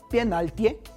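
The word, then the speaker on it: пенальти: Penaltie, lo pronuncian así, penaltie, y así es como se escribe en cirílico.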